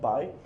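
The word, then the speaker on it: 白: Um, every time you see this character pronounced by, you think of a washing machine and you get white wash from a washing machine.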